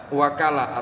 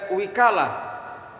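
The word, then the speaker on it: وكالة: Wahia, dan bermula wakalah bifathil wawi wa kasriha, dengan fathah wawu dan kasroh wawu. Ada yang membacanya dengan wakalah, ada juga yang membacanya dengan wikalah.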